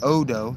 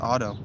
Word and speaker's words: Odo: Odo, that's O D O, not O T O. And some of them hear and see the procession before it disappears. It might actually be pronounced Otto.